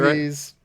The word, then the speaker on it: Voorhees: Voorhees.